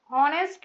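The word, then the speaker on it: honest: ऑनेस्ट में एच है, consonant है, फिर भी एंड लिखा है क्योंकि एच को कैसे प्रोनाउंस करते हैं, ओ ऐसे प्रोनाउंस करते हैं, इस प्रकार।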